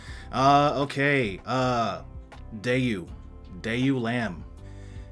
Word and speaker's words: deiulamb: Blinky so Blinky uh okay uh day you day you lamb it's pronounced uh it's semi-latin uh it is a